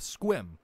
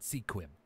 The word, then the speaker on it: Sequim: the neighboring town of Squim. And yes, it's pronounced Squim, not Sequim. I know it's weird, Squim. but yes, Squim. It's Native American pronunciation, anyways.